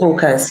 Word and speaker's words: Bocas: BOCAS, am I pronouncing it correctly? BOCAS? Yes, that's correct. It's BOCAS, yes.